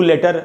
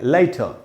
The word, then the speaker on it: later: मैं तुमसे बाद में, मैं तुम्हें फ़ोन करूंगा, मैं तुमसे बाद में मिलूंगा, न कि सी यू लेटर, लेटर नहीं बोलेंगे, लाइटर।